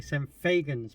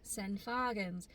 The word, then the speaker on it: St Fagans: are we Chloe sent I I'm gonna say some fagans but it's not it's actually pronounced sen fargans so we are in Wales and we are